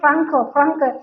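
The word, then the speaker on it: Français: Jadi kita kemarin diundang dulu sama kolaborasi sama IFI namanya, Institut Prancis sih, tapi kalau bacanya katanya Franke.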